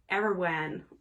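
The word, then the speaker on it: Erawan: to say it's ireland because that's how you pronounce it in german but this is not german so erwin is what it is and i was a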